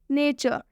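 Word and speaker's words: nature: ठीक है, नेचर, नेचर में देखिए यहाँ पर आर और ई लिखा हुआ है, इसका भी उच्चारण अ से किया जा रहा है।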